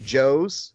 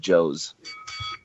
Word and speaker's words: Jose: reason whatsoever other than you mispronounced his name Jose. Did I mispronounce it or did you mishear it? You said Joe's.